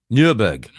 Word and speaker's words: Nürburg: Oh, that's why you're mispronouncing it. Okay. Nürburg.